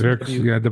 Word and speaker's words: Werks: Well, Works is spelled German like Werks. It's Werks, yeah, yeah, Werks, yeah, yeah, Werks.